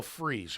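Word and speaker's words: Fries: Hassan reic and will freeze or Fri however you pronounce his name freeze I think it is the guard from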